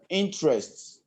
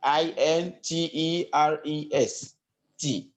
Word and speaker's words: interest: one will be uh interests like i n t e r e s t interest not interest so i'm going to